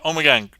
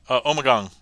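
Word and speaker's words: Ommegang: Omgang. Omegong. However you want to pronounce it. Um, I think both pronunciations have been accepted, but um, also good brewery.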